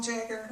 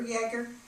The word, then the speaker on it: Jaeger: When I was thinking of poems to send to Lowell Jaeger, or Jaeger, is that how you say it? I heard somebody say Jaeger, yeah.